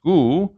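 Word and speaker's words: 口: It's pronounced gu, but it's the picture of a mouth.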